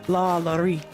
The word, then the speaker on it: LaLaurie: I always want to say it like French, like LaLaurie.